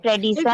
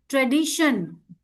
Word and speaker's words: tradition: No, Nidhi, again it is TION. See, so it will be shun. Tradition.